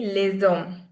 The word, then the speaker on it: les hommes: les hommes les hommes Now, the pronunciation would be les hommes. Because we're doing the liaison.